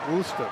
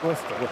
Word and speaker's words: Worcester: Worster, right? Worcester. Worster.